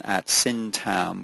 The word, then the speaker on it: Syntagm: Hudson syam with a silent g i I really wish